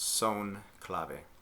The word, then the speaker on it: son clave: is the son clave that comes from Spanish so it's pronounced son clave line a is one